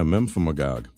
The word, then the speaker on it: Memphremagog: All right, Josh, I like the weird pronunciations. Help me with this. Memphremagog in Vermont. Oh, yeah. Memphremagog.